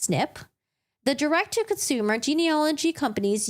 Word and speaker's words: SNP: positions are single nucleotide polymorphisms SNP pronounced snip the director consumer genealogy